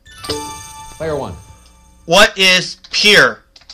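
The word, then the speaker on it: Pierre: The name of this South Dakota state capital isn't pronounced like a French name, but like a synonym for dock. Player one. What is Pier? Pier, South Dakota.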